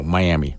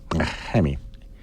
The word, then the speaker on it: Miami: Mami yeah I know Miami Mami is how you hear a lot of people pronounce it down there those people are usually from Cuba anyway down in Miami they